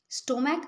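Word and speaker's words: stomach: করতে পারবো না আমাদেরকে এস করতে হবে স্টম্যাক স্টমক বলছি ক এর মত উচ্চারণ হচ্ছে সেজন্য হবে এস করেছি।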